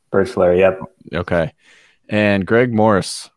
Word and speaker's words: Birchler: Please tell me how to pronounce that properly. Birchler. Birchler, yep.